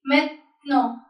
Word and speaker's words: maintenant: As we know, if we have e in between the word, will not pronounce it. It will be maintenant, maintenant.